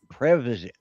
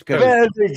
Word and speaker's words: Prevagen: I said, Previsit. I say it. Art. Prevagen. Yeah, Prevagen. say it right, Art. It's Prevagen.